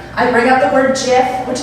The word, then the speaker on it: GIF: go on, like I bring up the word GIF, which like, now that I think about it, might say something about the kind of dates that I'm going on, I guess.